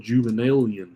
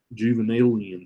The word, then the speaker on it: Juvenalian: There's also a form of satire called Juvenalian satire, and that's what this is. Juvenalian satire. It's spelled Juven. Let's see. ALIN, Juvenalian satire.